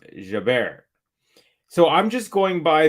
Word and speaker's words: Jabeur: Now you're saying, actually, my husband is Tunisian and it's pronounced Jaber.